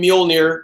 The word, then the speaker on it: Mjolnir: Matt just mentioned with a Captain America wielding Mjolnir and that's how you say it Anthony music